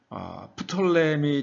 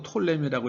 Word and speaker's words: 프톨레미: 그리고 프톨레미 장군, 또 혹은 또 톨레미라고 읽기도 하고요.